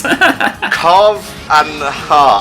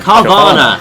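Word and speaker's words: Carvanha: Carv and Ha. I can't pronounce this fucker's name. Carvana. Thank you. Oh, of course. Like Piranha.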